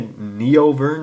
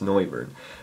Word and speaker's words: Noivern: I always want to say Neovern, but that's not how you say it. It's Noivern because I'm a noob.